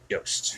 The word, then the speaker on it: Jost: Now, see, in Nova Scotia, we pronounce that Yost because we've got Yost wineries. Yeah, exactly. Yeah, that's how I wonder if would it's pronounce Tyson it. Jost.